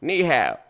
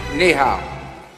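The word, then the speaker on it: 你好: I knew I needed kneehab two syllables Mr President you got this knee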